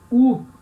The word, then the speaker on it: ou: Em francês se escreve igual o português, mas na hora de falar se fala U, tá?